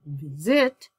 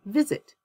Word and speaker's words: visit: Same thing with visit. I don't visit you, I visit you.